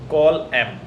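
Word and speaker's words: Colum: कॉलम pronounce कॉल एम.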